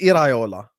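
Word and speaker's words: Iraola: No, it's Iola. Andoniola. Areola is nipples. It's two different things. Love a nipple. How do you say anonyola? E like you get me? He's from the Basque region.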